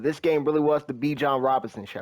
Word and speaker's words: Bijan: But this game really was the Bijan Robinson show. Or excuse me, Bijan Robinson, to say it properly.